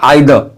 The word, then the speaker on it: either: ऐसी एक लफ्ज़ है EITHER, जिसे ब्रिटिश वाले बोलते हैं आइदर, आइदर, यानी आखिर में जो आर है ना, ये उसको हज़फ कर जाते हैं, यानी साइलेंट हो जाता है, आइदर। लेकिन अमेरिकन वाले इसे बोलते हैं ईदर, ईदर।